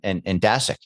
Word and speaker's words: Dasceq: Is that Dasceq? Did I pronounce that right? Dasceq.